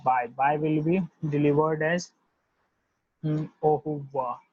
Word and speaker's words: au revoir: And the bye will be delivered as au revoir, au revoir, right?